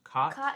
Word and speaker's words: cot: The one that's COT I pronounce with an A, and the one that's CAU I pronounce sounding like an O.